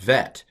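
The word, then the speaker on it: בית: it's ba when the when the bet does not have the dog gesh it's um you might even call it a different letter uh bet vet although it's it's not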